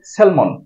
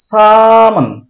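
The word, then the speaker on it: salmon: এটাকে আমরা উচ্চারণ করি সেলমন রু জাতীয় মাছ সেলমন না এটা শুদ্ধ উচ্চারণ হবে সামান সা টান দিতে হবে মানন ঠোঁটটা বন্ধ হবে তারপর চেনে নিতে হবে মান সামান সামান আজ এ পর্যন্তই ভিডিওটা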